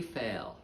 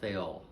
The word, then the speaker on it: Fayol: His name was Henri Fayol. Some Americans pronounce it Fayol.